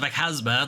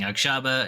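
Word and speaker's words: Aghasba: been saying wrong I've been saying aaba it's apparent it's aaza I just can't read anyway there's a over there's a voice over on this video that actually pronounces it and it's towers of aaza is what is the way it's meant to be pronounced anyway uh that's coming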